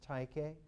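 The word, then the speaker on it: τύχη: that polybius uses is taike tai chi rhymes with psyche tanki that taiki is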